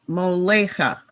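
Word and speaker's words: מוֹלֵךְ: Hamelech Moleach Molecha Moleach So it's just Molech. or Molech. Molech. The two dot vowel under the final kaf is silent.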